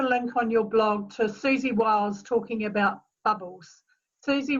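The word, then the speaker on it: Siouxsie: Susie, but it's spelt like the Sioux Nation with S-I-E at the end, Wiles, W-I-L-E-S.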